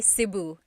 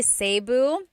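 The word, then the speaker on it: Cebu: seu or SIU so technically in the Tagalog alphabet the letter e can be pronounced e or E like the letter I so I say SIU SIU and I know some people say seu but usually it's either SIU or sebu good question all right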